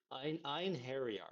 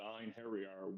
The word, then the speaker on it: Einherjar: I'm the co-founder of Galactic Mining Club and the founder of Einherjar, Guardians of Asgard.